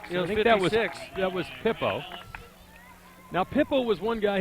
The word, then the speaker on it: Pippo: His name looks like Pippo, and he actually pronounced it. Yeah, P-I-P. it's actually P-I-P-P-O, but you know. Pippo. Yeah, That's yeah, him. yeah, but not like Pipo or Yeah. or Peepo or something like that.